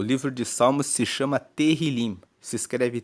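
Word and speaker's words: Tehilim: Tanto que no hebraico, que é o texto original da Bíblia, o livro de Salmos se chama Terilim. Se escreve T E H I L I M e Terilim quer dizer louvores.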